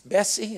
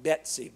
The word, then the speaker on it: Bessie: Bessie, am I saying it right? Not Betsy, Bessie.